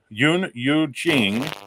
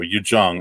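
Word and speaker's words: Yuh-jung: runner's up in order are you jing or i'm sorry you you jung i believe is how you say it it's spelled y u h j u n g so yu jung i believe is how you say that for menari who is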